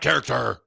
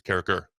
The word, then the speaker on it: Carriker: There's no T in my name. It's not Carriker. It's Carriker.